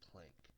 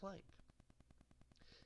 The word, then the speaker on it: Planck: The Prank Kids get their name from the scientist Max Planck. When pronounced with a Japanese accent, the L and the R sound almost identical, so Planck becomes prank.